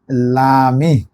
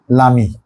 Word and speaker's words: l'ami: কাটা যায় হবে এই লো আমি, উচ্চারণ হবে লামি, লামি।